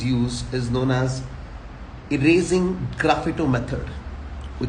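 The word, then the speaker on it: sgraffito: is known as erasing Graphato method. We call it erasing Graphato method. Okay, this method. S is silent here, so we call it Graphato.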